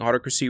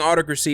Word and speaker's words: Autocracy: He respectfully explained to me that I've been pronouncing Autocracy wrong this entire time. So I was saying Autocracy, but it's actually pronounced Autocracy.